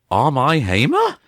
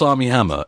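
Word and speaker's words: Armie Hammer: to pronounce his name am I hamir no no they said am I hmer and I just I'm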